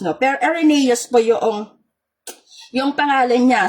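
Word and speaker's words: Irenaeus: However, you would like to pronounce po Ereneus po pero yung sa nakalagay po mahirap po siyang i-pronounce no pero Ereneus po yong yung pangalan niya.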